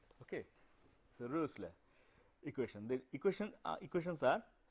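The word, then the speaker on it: Rössler: This is O with a umlaut, it is a German thing with pronunciation Rösler. You will make the lips as if you are trying to speak O, but you will actually try to speak A. So, whatever comes out of your mouth that is the Ö.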